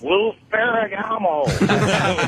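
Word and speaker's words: Lou Ferrigno: I just wanted to let you know you're pronouncing it wrong. It's Lou Ferragamo.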